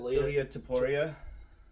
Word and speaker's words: Ilia Topuria: How do you pronounce that name? Ilia Topuria.